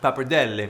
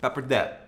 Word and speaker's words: pappardelle: Now, pappardelle is pronounced pappardelle in its original Italiano, but since we're here in America, we're gonna pronounce it pappardelle.